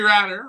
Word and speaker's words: Ratter: Henry Ratter, rhymes with ladder.